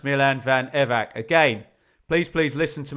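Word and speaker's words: Milan van Ewijk: Pete, it's pronounced Milan Van Evac.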